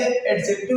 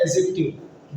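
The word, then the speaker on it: adjective: तो इसे एडजेक्टिव नहीं कहा जाता, इसे कहा जाता है एडजेक्टिव। डी यहाँ पर क्या होता है आपका साइलेंट होता है।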